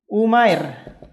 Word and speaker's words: Umair: cuma ini beda penulis sama penulisan tapi pengucapan beda satu Umair Umair satu Aamir aneh sama penulisannya tapi beda pengucapannya ada nama orang Basir Basir